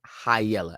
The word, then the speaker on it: high yella: That's pronounced high yella, as in you have high yellow skin.